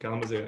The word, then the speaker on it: Kalamazoo: You are originally from Kalamazoo, Michigan. Did I say it right? You said it perfectly. Yep. Kalamazoo.